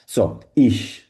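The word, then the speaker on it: ich: বলি অনেকেই ঠিক আছে ইখ কারা বলে ইহ বলে হচ্ছে বিশেষ করে বাবারিয়া স্টেটের দিকে আর হচ্ছে সুইজারল্যান্ডে সুইজারল্যান্ডে কিন্তু আপনারা জানেন যে জার্মান ব্যবহার করা হয় জার্মান বলে তারা পাশাপাশি অস্ট্রিয়াতে জার্মান বলে অস্ট্রিয়ার কিছু কিছু জায়গায় তারা ই বলে তো দুটো আসলে যেভাবে আপনার তবে সবচেয়ে স্ট্যান্ডার্ড আমি বলব হচ্ছে ইশইটাই আমরা সবচেয়ে বেশি ব্যবহার করি ইশ প্রনান্সিয়েশন ভালো চেষ্টা করবেন ইশ মানে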